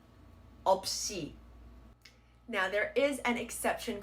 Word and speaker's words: 없이: of two different consonants, then you just want to carry on the sound of the second. For example, this would be pronounced as 없이 없이 없이.